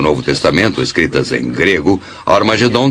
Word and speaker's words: Armagedon: E realmente em algumas das antigas versões do Novo Testamento, escritas em grego, Armagedon tem o som aspirado no início, que significa que era pronunciada com H. Originalmente era Har Magedon, e é muito fácil passar de Har Megido para Har Magedon.